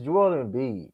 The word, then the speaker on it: Joel Embiid: And here's the thing: even if you want to say his name, it's Joel Embiid.